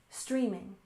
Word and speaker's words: streaming: and finally we have streaming with stress on the first syllable streaming streaming for example streaming movies